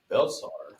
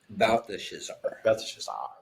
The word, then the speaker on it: Belteshazzar: The king answered and said to Daniel, whose name was Belshazzar. Belteshazzar. Yeah, like I said, there's a lot of syllables in there.